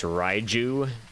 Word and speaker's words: Raichu: Yeah, I know the pronunciation is Raiju, but Raichu just sounds better.